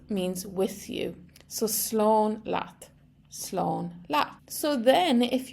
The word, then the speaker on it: leat: with you last means with you so Sloan lot Sloan La so then if you're saying this